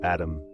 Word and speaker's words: ADM: ADM and REM, pronounced Adam and Rem.